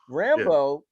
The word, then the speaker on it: Rambeau: So Rambo, am I saying her name? How do you say her name? Yep, Monica Rambeau. Rambeau.